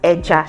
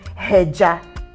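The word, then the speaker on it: ẹja: Like when you have fish in Yoruba language, it's pronounced as eja. Yeah. Do you understand? So you don't say heja. You're not aspirating in that word.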